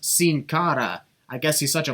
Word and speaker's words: Sin Cara: has locked in on singado man tonight's a weird night for pronouncing names it's pronounced sin cara i guess he's such